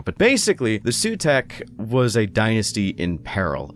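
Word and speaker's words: Sautekh: I've also gotta say, I've always pronounced it as Sutek, but I hear people also pronouncing it as Sawtek, which, I don't know, I like Sutek more, so I'm just gonna say Sutek for the sake of consistency.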